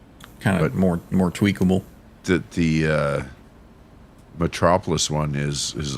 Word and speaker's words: Metropolis: yeah, How do you pronounce fantastic. that? Metropolis?